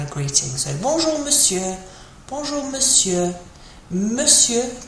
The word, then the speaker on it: monsieur: Monsieur can be tricky to pronounce. Doesn't look really like how it's spelled. So monsieur.